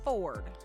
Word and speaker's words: fjord: say that word is fjord fjord but because i don't know why they threw a j in there because they like to pronounce it ford like a ford f-250 it's for tough fjord